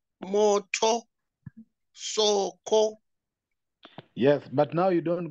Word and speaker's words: soko: But in Swahili, the first word comes from low intonation. So you say moto, soko, not the other way of moto, soko.